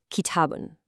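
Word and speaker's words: كِتَابٌ: Do you hear that clear in sound at the end of both of those words? Kitabun, baytun. That un sound is the tanween doing its job.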